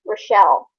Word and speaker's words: Rachelle: I have a manager at work with the same name, Rachelle. Mm-hmm. Apparently, it's not pronounced Rachel; it's pronounced Rochelle.